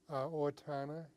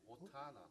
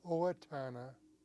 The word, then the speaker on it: Owatonna: Owatonna. Otana. Owatonna. Could you spell it?